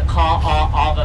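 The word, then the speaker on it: Kaʻaʻawa: Now this valley right now is known as the Ka'ava Valley. It's spelled K-A-A-A-W-A. There's so many A's in our name, we're almost Canadian, creation.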